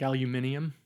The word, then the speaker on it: aluminium: See, I know how to pronounce some British words the British way, right? like Aluminium, right?